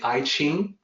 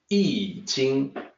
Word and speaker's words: I Ching: out the YouTube presentation was say I Ching it's actually eating and no matter how it's spelled the new spelling with a new standard used why I instead of I and then ki ng in service thi ng but no matter how it's spelled it's always eating so in the eating